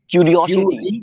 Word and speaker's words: curiosity: क्यूरियोसिटी क्यूरियोसिटी वहां पे क्यूरियोसिटी क्यूरियोसिटी ओ का पे थोड़ा स्ट्रेस है ठीक है तो चलिए